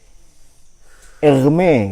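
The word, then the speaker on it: Hermès: sokrates itu semuanya nabi egme kata egme Kan merek tas tulisannya sama cuma beda cara bacanya Ya kalau ini merek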